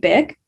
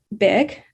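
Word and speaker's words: Bich: This piece is an autobiographical account by this author, Beth Nguyen, whose given name, spelled B-I-C-H, is pronounced Bick, but she recounts the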